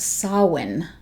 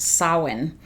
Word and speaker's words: Samhain: remember correctly it's pronounced sawin it looks like samhain but i believe it's pronounced sawin uh it's pumpkin latte